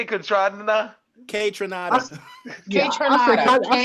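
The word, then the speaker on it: Kaytranada: K Tronada. Yeah, K-Tronada. I said Contranata, yo.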